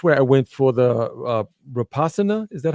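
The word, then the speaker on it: Vipassana: So that's where I went for the rapasana. Is that how you pronounce it? Vipasa vipasa right is the the silent tree.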